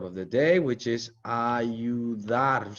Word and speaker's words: ayuda: Notice how the U is silent and we just go straight to the I and we pronounce it with like an E in English. ¿Quieres ayuda?